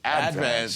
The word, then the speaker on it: Advance: And then my career started at the Staten Island Advance, or as they say on Staten Island, the Advance. Yeah. Why do Staten Islanders put the accent on the first syllable of the word advance?